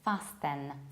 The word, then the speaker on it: fasten: I usually hear it pronounced like fasten, fasten your seatbelts, whereas in the very first word there is no T.